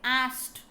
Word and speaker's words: asked: ed pronounced as t. ಅಂತ pronounce ಮಾಡಬೇಕಲ್ಲಿ. ಆಸ್ಕ್ಡ್ ಅನ್ಬೇಡ್ರಿ, ಆಸ್ಟ್.